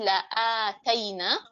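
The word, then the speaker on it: لَآتَيْنَا: Untuk yang tilawah surah As-Sajdah, untuk yang mau menghafal surah As-Sajdah, di garis bawahi la'ataina, karena la'ataina ini panjang ya. Ini bukan sekedar hamzah ada fathahnya, tetapi dipanjangkan 2 harakat.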